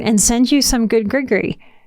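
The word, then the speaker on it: gris-gris: on my heart and send you some good grigory it's spelled g r i s g r i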